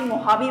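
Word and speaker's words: Mojave: इसकी प्रोनाउंसिएशन आपकी मोहावी बनती है, मोहावी डेजर्ट।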